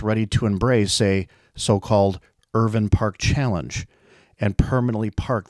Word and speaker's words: Irvine: Always proud of their family's Scottish ancestry, she gently instructed that the family always pronounce their name Irvin, which rhymed with Mervyn. The Scottish, she said, never pronounced the E, as the English always had.